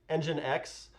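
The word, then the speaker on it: nginx: python has simple server there are other apache engine x which you've seen before but you might not know that it's pronounced that way um all of those are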